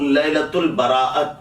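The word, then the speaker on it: لیلۃ البراءۃ: اسی کی 15ویں شب کو عربی میں لیلۃ البراءت کہتے ہیں، جسے صحیح تلفظ کے ساتھ لیلۃ البراء کہا جاتا ہے۔ لیل معنی رات کے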